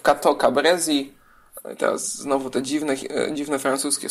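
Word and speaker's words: Cateau-Cambrésis: Franciszka I, układem w Cateau Cambrésis. Teraz znowu te dziwne francuskie słowa. Cateau. Jeszcze trochę sobie przesuniemy, żeby nam się zmieściło. Cateau Cambrésis, tak to się pisze, a czyta się Cateau Cambrésis.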